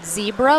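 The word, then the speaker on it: Zcebra: using for their paddles it's called zebra but it's spelled z c e b r a it's a spanish brand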